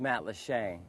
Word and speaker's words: Matlacha: Oh, it's pronounced Matlacha, which is an Indian word meaning shallow waters.